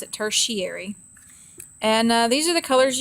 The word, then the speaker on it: tertiary: like that it looks like tertiary but you pronounce it tertiary and these are the colors you get after